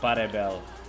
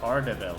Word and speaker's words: Pardebel: That is Parebel. Pardebel, there's a D in there, holy.